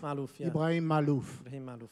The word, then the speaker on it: Maalouf: C’est un grand fan, mais nous ne sommes pas d’accord sur la prononciation de ton nom de famille. IB : Maalouf. Maalouf.